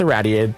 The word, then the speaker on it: irraddyated: Also, I mean, obviously, my name is pronounced irraddyated, but I also can just go by. For anyone who is struggling with that name, it's just.